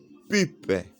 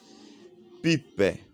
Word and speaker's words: pip: Prononcez ça pip. C'est le terme français, c'est à la française. Pip.